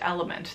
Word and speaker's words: LMNT: I brought something called, it's spelled LMNT. Drink mix. I think it's pronounced Element. That's what I would pronounce it as.